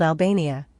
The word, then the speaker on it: Albania: Scotland, in addition to being called Caledonia, was also called Albania, pronounced exactly like Albegna, in Etruria, Italy, and